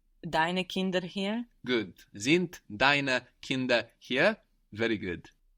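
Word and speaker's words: sind: i n d so we have the S pronounced like a z there and the D on the end of the syllable pronounced like a t z zint the children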